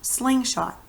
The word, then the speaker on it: slingshot: that first word sling do you hear that we just say it a little bit louder than we do strike let that again ready slingshot slingshot you see how we put more emphasis on that first part well that's what happens